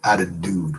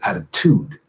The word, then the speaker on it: attitude: Americans go attitude now if the second T in attitude were part we're part of the syllable that contains the preceding vowel it would be flat wouldn't it so you can add a dude added dude which just isn't said you don't say that